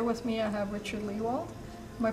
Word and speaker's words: Lehwald: me I have Richard Lehwald. Am I pronouncing that right? It's fine. That will do. Well, what is it? It's actually Lehwald. Lehwald. It's a German name. Okay. Okay, but most people say Lehwald.